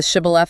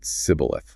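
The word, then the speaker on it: Shibboleth: Like the shibilaf example. That one's pretty brim. Yeah. From the book of Judges. Basically, it was a password. The Ephramites couldn't pronounce the she sound. They said cibilith.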